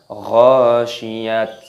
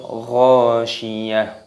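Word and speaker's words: الغاشية: Tak marbutah itu ketika waqaf berhenti dimatikan, maka berubah menjadi huruf H. Makanya kita baca bukan ghasyiyat, bukan, tetapi hadithul ghasyiyah. Kita baca hal ataka hadithul ghasyiyah.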